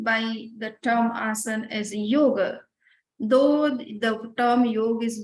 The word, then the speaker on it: yoga: If you are uttering any Indian terms, then you have to learn that what is the right pronunciation. If we say yoga, that doesn't mean yoga. So yoga is the word which ends with a sound and not a sound.